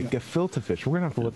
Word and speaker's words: gefilte fish: uh what is uh how do you pronounce it they can get filter fish yes you got it right you got it right okay gefilte fish we're gonna have to